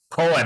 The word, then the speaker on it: Cohan: another Irishman uh James is it pronounced Cohan James Cohen Cohan how do you spread this c-o-h-a-n Colin I'd say yeah yeah he was